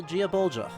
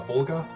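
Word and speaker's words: Gáe Bulga: yeah so uh uh it's honestly not as tricky to pronounce that sounds like it's just gay like like okay uh and uh uh volga or uh volga depending on where in the sentence it falls because of the cases okay yup so anyway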